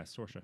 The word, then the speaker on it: Saoirse: Sayors did it, or I'm saying her wrong. Saoirse. Is that how it's Saoirse pronounced? Ronan, really? yeah, Saoirse. Wow. Yeah. That's not at all what it looks like. Yeah, I know. Saoirse. It's Dang Irish.